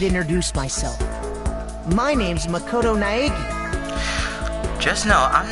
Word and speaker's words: Naegi: Because the way it's spelled, Naegi, because it sounds like there's an I, but it's Naegi.